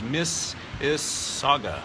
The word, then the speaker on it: Mississauga: Hugo says, I believe the pronunciation is Mississauga.